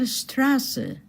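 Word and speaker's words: Straße: say stra but rather it represents two s's two s's and the vowel before that is pronounced long so plural Dasen. So there you are. You have Jose Rizal Stras.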